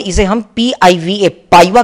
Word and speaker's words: PIVA: Short में इसे हम PIVA, पाइवा के नाम से प्रोनाउंस करेंगे.